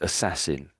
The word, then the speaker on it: assassin: So his last word is assassin. Assassin makes it slightly awkward. You got an as then an an in front of it. So look sort of half making those sounds already.